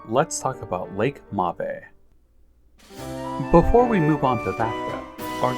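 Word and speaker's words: Mabe: I am calling it mave now but thank you for everybody who pointed out in that video that I should be using the Japanese pronunciation anyhow this is the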